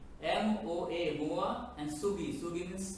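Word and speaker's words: 모아: MOA, Moa, and Sugi.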